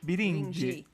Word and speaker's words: Birinci: Só que a pronúncia é Birindi.